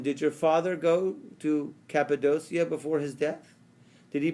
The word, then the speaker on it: Cappadocia: Okay, Rabbi Yishmael said to him, do you indeed have property in Kapundia? How do I pronounce it right? Cappadocia. Cappadocia.